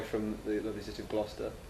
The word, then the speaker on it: Gloucester: all the way from the lovely city of gloucester lyle chester as the americans like to pronounce it yes um yes it's a comedy